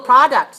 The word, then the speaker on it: products: term number three products how many syllables two products stress on the first syllable open your mouth right